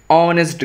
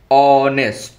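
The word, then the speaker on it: honest: দুই নম্বর দেখোশি ইজ অনেস্ট girl অনেস্ট এইযে অনেস্ট কথাটা তাইতো অনেস্ট অনেস্টের আগে কি হবে অনেস্ট গল অনেস্ট অ বলছি আমরা তাইতো তাহলে অ বলছি সাউন্ডটা হচ্ছে মানে এইচ এর উচ্চারণটা সাইলেন্ট তাহলে এখানে আমাদের কি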